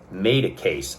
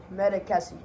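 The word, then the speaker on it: Madécasse: How do you say that? Medicasi. There you go. That's better than I did.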